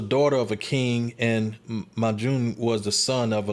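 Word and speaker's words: Majnun: Majun, not Majnu.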